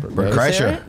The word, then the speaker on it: Bert Kreischer: Bert Kreischer.